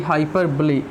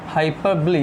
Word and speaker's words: hyperbole: Of speech है भाई हाइपरबोली। क्या है मेरे दोस्तों, हाइपरबोली। हाइपरबोली भाई ध्यान से इसको प्रोनाउंस करना, हाइपरबोल नहीं पढ़ा जाता, ये क्या पढ़ा जाता है साथियों, हाइपरबोली।